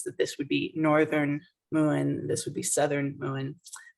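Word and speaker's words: Mumhan: what is this one that's pronounced moon in Irish and this would be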